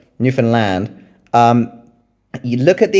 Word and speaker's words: Newfoundland: I would I would start with um the explorers who visited Newfoundland before uh in fact it's Newfoundland is how you pronounce it. I always get it wrong. Newfoundland.